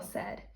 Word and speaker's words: said: We hear an E, which is usually spelled with an E, but that's not how we spell said. So, we have to learn by heart that said has a and I together in the middle to spell said.